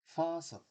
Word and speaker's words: faucet: 그럴 때는 이거는 사실은 어떻게 된 거냐면 터는 돌리다, faucet, faucet, F-A-U, CAT, 수도꼭지를 faucet이라고 합니다.